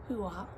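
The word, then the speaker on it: Huath: Then for hwa and I was correct that is how it's pronounced huwa.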